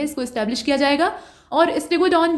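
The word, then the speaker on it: Stegodon: और उत्तर प्रदेश के किस जिले में स्टीगोडन जीवाश्म की खोज की गई। स्टीगोडन नहीं है, ये स्टेगोडॉन है, ठीक है।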